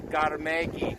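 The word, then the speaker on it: 갈매기: That actually says gar, as in Garmegi. Garmegi means seagull.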